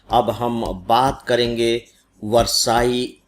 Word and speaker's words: Versailles: double L ई एस अब आप इसको सीधे-सीधे उच्चारित करेंगे तो वरसाई नहीं होता है क्योंकि डबल एल साइलेंट है गायब है तो आपको कंफ्यूजन ना